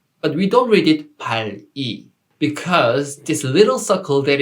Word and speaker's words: 발이: That's why we don't read this word 발이. We just read it 발이, 발이, 발이.